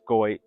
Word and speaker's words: Goit: Now, earlier I was talking about her and her father, Reitman, and I was saying Got, but it's pronounced Goit, so my bad on that.